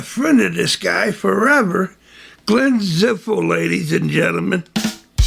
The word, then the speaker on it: Glenn Zipfel: Glenn Zipfel, ladies and gentlemen. How you doing, Wales? All right, did I pronounce the name correctly?